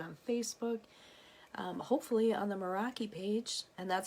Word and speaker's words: Meraki: can find it on Facebook hopefully on the Meraki page and that's how you pronounce that for those of you who don't